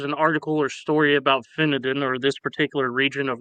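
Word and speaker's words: Finedon: Uh, so Finadin spelled like fine D O N but apparently pronounced Finadan in England is a small village located in Northamptonshire, England.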